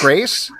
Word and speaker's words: Scrase: last name is it is it Grace yes I shouldn't have said